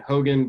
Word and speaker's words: HeAuxGan: Yeah, I think it's HeAuxGan, Hogan, but spelled like an LSU fan.